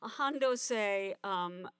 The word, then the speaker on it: Han Do-sei: And the sculptor Hondose, in Japanese pronunciation of name, was this young man